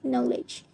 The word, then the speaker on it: knowledge: Another one is knowledge.